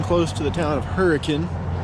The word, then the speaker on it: Hurricane: now until i get to the town of hurricane not hurricane although it is spelled like that it's pronounced hurricane good morning it's a beautiful day so far